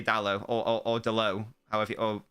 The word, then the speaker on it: Dalot: Well, I meant to say Dalot, or Dalot, however, or it's not, if I said Delors, you know, I apologise.